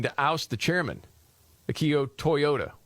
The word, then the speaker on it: Toyoda: But progressive investors are seeking to oust the chairman, Akio Toyoda, which is spelled with a D, D-A, Toyoda, and are pushing a